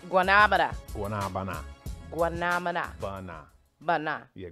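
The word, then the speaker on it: guanábana: Guanabana. Okay, whatever. That's how they say it in Cuba. Guanabana.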